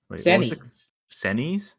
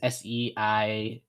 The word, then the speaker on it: seinen: move on to sendings these are like senis sendings s-e i want to spelled it wrong but i think it's s-e-i-n-e-n it's basically like shonen's but i think that would be pronounced that sounds better than what i've been saying but yeah you've got